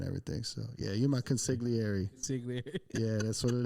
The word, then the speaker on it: consigliere: Concierge. No. Consigliere.